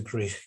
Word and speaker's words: Gwrych: It's Escape to Gwrych Castle, a Jewish refugee story, published by Calon,